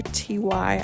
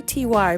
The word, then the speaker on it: Ty: Ty. I always want to say T Y, but I know you're supposed to say pronounce it Ty.